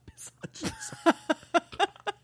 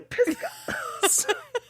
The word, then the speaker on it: Pisgah: It's not the Pissage. I'm sorry. Creepers, I'm so sorry. I don't know how to pronounce this. Pisca. It's definitely Pisca. So we've got Pisca Restaurant opening in Asheville. Oh my God, Craig. Come check it out. I said Pissage, like Marcel Visage.